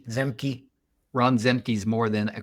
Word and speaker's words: Zemke: In Ron, how do you pronounce his last name? Zemke.